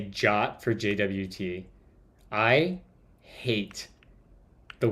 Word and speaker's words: JWT: where is it introduction the suggested pronunciation of JWT is the same as the English word jot it infuriates me to